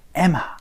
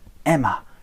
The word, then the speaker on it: Emma: 왜 엠마가 아니고 에마라고 얘기를 하나요? 라고 궁금해 하실 것 같아서, 자, 우리 여름을 summer라고 얘기를 하지 않고요, summer라고 얘기를 하는 것처럼 엠마라고 하지 않고 에마라고 얘기를 하는 이유는 M이 두 번 붙어 있지만 한 번만 여러분들 발음을 해주기 때문에 그 부분을 챙겨서 발음을 해주시면 됩니다.